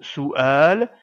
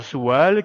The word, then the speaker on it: سؤال: Soual on doit donc bien séparer les voyelles et ne pas faire la liaison comme si on prononçait la lettre waou la lettre wou n'est qu'un support à l'écrit et ne doit pas être prononcé on prononce donc bien ce mot Soual et non pas Soual qui ne veut rien du tout la lettre Hamza